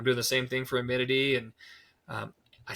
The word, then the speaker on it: Amity: And I'm doing the same thing for Amity. And I said it wrong. Thank you. Amity. Amity.